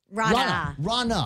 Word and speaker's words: Rana: But I wanted to welcome Rana. That's okay. See, no, I'm the guy that's been telling everybody for the last couple of days. It's pronounced like Ronald Reagan. It's like Donna with an R.